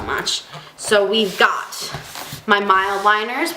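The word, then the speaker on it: Mildliner: so we've got my mild liners which for the longest time I thought were pronounced mid liners but it's not they're mild and the pilot G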